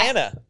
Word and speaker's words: Tana: So is Tana short for something else or? Nope. No. Just Tana rhymes with banana.